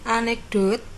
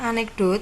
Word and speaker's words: anekdot: Kemudian anekdot, ya, bacanya anekdot bukan anekdot. Ya, begitu ya. Bukan anekdot tapi anekdot.